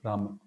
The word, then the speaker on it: Rama: left his body, so although the a of Rama is Vamana, and we pronounce it as simple Rama, but when he was crying, chanting Rama's names, so he was um emphasizing on the end part, Hey Ram, Hey Ram, Hey Ram.